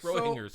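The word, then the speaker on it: Schrödinger: That's Schroeder's cat and turds happening there. Fuck. Schrodinger's cat.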